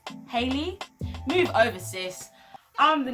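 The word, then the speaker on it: Halle: Her name's not Hallie, it's Hailey.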